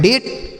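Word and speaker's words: date: Last में ही रहेगा तो हम नहीं पढ़ेंगे। लिखा गया है डेट मतलब होता है दिनांक।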